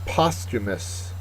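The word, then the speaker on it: posthumous: is unintelligible next word postumus postumus uh it's an adjective first syllable is accented it is occurring or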